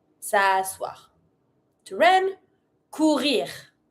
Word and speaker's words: courir: Courir. Pronounce the R. Courir.